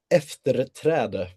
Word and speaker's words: efterträde: And can you please tell me how to pronounce it in Swedish, please? The title. We'll try our hand at it. It's efterträde. Efferetrada.